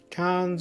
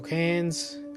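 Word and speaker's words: Cairns: geez I didn't yeah say cans or cans depending how you pronounce it I got that one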